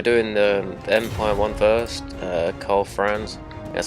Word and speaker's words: Karl Franz: So we're doing the Empire one first, Karl Franz, that's how you say his name.